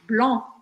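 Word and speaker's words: blanc: Gris Gris Blan Blan aquele som de batata quente blon blon super então aqui a gente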